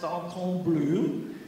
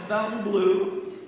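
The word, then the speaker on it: Fontainebleau: So unlike our friend Mark at 360 Vegas, it's not pronounced Fountain Bleu. It is actually pronounced Fountain Blue. You can find that on their website because there's another one in Florida.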